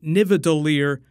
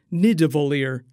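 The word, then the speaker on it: Nidavellir: help him kill Thanos he actually pronounces nineveh Lear wrong a couple times the first two times he incorrectly calls it Nevada Lear the third time he correctly pronounces it need to volleyer so it's just a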